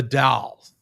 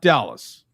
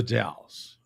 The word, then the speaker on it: The Dalles: It's the Dalles, Oregon. Don't dare call it Dallas. It's the Dalles, right?